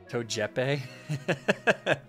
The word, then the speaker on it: Togepi: guy back all right togepi pronounced like giuseppe togepe love it um all